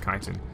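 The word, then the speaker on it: chitin: Kitin is a armored substance that's found on the back of many insects. It's spelled chittin, but it's pronounced kiten.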